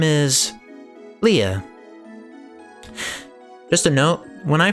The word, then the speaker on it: Lea: I thought her name was Lee, but just before streaming this, I decided to try to look for a consensus on what her name actually is pronounced. It definitely looks like the consensus is Leah. So I'm gonna go with that.